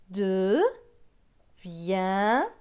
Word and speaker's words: deviendra: D et E, deux. V avec I-E-N. I-E-N se prononce yen. Avec le V, cela va faire vient. DR. DR, c'est dr. Avec le A, cela donne dra. Donc, ce mot va se lire de viendra, deviendra. Plus loin, UN c'est un.